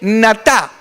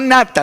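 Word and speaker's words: נטה: Entonces, hay una palabra que me llamó la atención, te decía antes que en hebreo es se dice natá con acento en la segunda, no nata.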